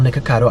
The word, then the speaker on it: Nikocado: Make sure you spell it right. N-I-K-O. Cado. Nikocado. And, by the way, my name's not Nico.